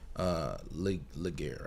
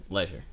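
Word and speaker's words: Legere: and I feel like Laguerre, right? John Laguerre. I feel like John Laguerre. Leisure. That's how you pronounce it.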